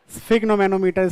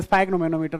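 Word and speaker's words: sphygmomanometer: क्या कहते हैं उसे, स्फिग्नोमेनोमीटर, स्पाइग्नोमेनोमीटर, what ever you want to से, वो तो एक प्रोनाउंसिएशन है, स्फिग्नोमेनोमीटर है ना।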